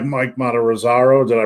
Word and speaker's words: Matarazzo: And you have guys like Mike Matarazzo. Did I pronounce his name right? Matarazzo, yeah.